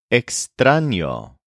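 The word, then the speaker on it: extraño: fit this template is exano which means strange this is spelled with an En the letter n with a little squiggle over it so it's e x t r a o here's an example it's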